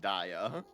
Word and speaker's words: Dia: Because it's dia is in diamond.